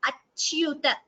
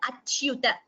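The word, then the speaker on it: अच्युत: Yes, please note also the pronunciation of this word achyuta. Cha and you both should be heard achyuta.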